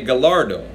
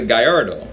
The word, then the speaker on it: Gallardo: Spanish pronunciation which means the double ELLs make a Y sound or EE sound which changes that words a Guyardo right so the correct